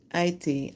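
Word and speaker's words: Ayiti: It's like almost like I think they don't pronounce the H. It's like A Aitan. Ait. Aiti. Aiti. Yeah, they say Aiti.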